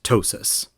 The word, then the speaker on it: TOSAS: Thanks again for tuning in, and we will see you next week on the Omnia Sol Art Show, also known as TOSAS. Rhymes with Gnosis.